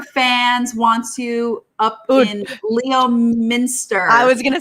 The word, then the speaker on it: Leominster: do you say it you're not going to believe it it's leominster leominster yeah it makes no sense no you can't no